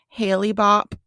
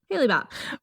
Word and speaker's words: Hale-Bopp: Now, at that time, there was a comet coming called, I'm just going to pronounce it how I believe it's supposed to be pronounced, okay? Okay. Hale-Bopp. Yeah, that's right. Okay, cool. Hale-Bopp.